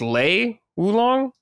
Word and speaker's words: Lei Wulong: For mains, for me, so back in Tekken 2, I think how you pronounce it is Lei Wulong. Oh, Lei Wulong.